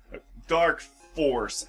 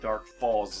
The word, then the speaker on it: Dark Falz: just ruined the surprise dark force actually dark Falls is a mispronunciation that for some reason or another was just continued in the Fantasy Star